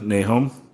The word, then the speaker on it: Nahoum: and your last name is hard to pronounce Nahum nee home he was a longtime friend of mine and